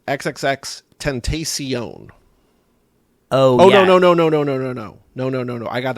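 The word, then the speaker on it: XXXTentacion: He says, regarding the rapper that died, it's pronounced XXX Tentacion. Oh, yeah. No. I got that wrong. He just says Tentacion. Tentacion. Sure. That's it total. No X's.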